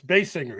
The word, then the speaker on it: Basinger: I know that we all mispronounced it before because we didn't know how to pronounce her name. yeah, it's bass singer, But isn't once she says it, lets you know how it's pronounced.